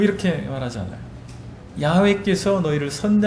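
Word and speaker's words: 야훼: 번역된 칭호가 야외 입니다 원래 히브리어로 야외 라 발음하는 것이 옳다고 자들이 얘기를 합니다 야외 라고 하는 침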